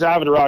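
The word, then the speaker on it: Avodroc: Yeah, the name of the company is Avid Rock. It's my last name backwards.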